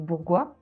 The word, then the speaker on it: Bourgois: tu l'as magnifiquement prononcé je m'appelle Bourgois je rigole avec ça parce que 95 % des gens m'appellent bourgeois donc voilà donc je